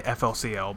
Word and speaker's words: FLCL: I'm referencing is FLCL which is actually pronounced fooly cooly apparently that's that's how you pronounce it I just say I just say FLCL but anyway that show